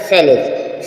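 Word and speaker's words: sledge: देखें आपको लर्न हो जाएंगे जैसे आपने देखा सेलेज स्लेज स्लेज मींस होता है बर्फ की गाड़ी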